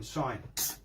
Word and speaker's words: sign: What's the silent letter in sign? G. What are you left with? Sin.